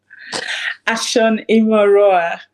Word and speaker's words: Ashon-Imoroa: Can you pronounce that last name for me? Ashan Immoroa. Ashan Imoroa.